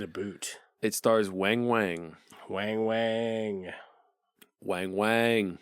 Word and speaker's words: Weng Weng: Weng Weng. Weng Weng. Pronounced Weng Weng. Spelled W-E-N-G. That's right.